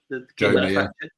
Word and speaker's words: Joma: Is that how you pronounce it? Joma, yeah.